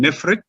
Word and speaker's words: Nefertiti: and we understand that we shall say her name nephrite so nephrite means the